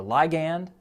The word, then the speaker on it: ligand: Sometimes people will pronounce it ligand or ligand, but I looked it up, and ligand is appropriate, so that's what I'm going to say.